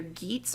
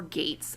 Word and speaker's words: Geats: And so, okay, you can pronounce it either Geats or Gates. I've heard it both ways.